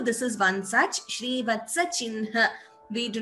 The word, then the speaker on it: चिह्न: nu here, but we pronounce it as Shrivatsa Chinha. We do not pronounce it as Shrivatsa Chihna.